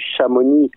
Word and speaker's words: Chamonix: et la contenance italienne chamonix c'est devenu chamonix à la can i et on ne prononce pas lui la clusaz il ya